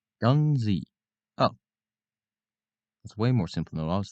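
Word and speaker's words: Guernsey: wait no Ury wait how do you pronounce that gunzi oh that's way more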